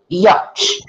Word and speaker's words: yacht: This is yacht. Yacht. Y-O, not Y-A-R. Y-O. So the pronunciation is Y-O. Yacht.